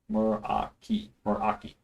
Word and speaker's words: Meraki: I was definitely pronouncing that wrong. Meraki.